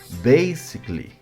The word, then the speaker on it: basically: Note que el sonido de la A de la terminación no se pronuncia o como coloquialmente decimos es muda. Por ejemplo, no pronunciamos basically, sino basically. Y así con todos de este tipo.